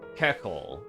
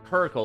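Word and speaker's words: Köchel: Okay, it's pronounced keekle in German or commonly kirkle or keshel in English.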